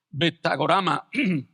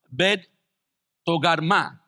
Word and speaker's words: Bet Togarma: con los ejércitos de betag orama Perdón bet togarma barm Es la forma correcta de pronunciarlo desde el lejano Norte